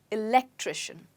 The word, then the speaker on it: electrician: fix the fused light where's the stress well i told you at the beginning of the of this lesson that the stress with the words that end in shun is right before it electrician wonderful now moving on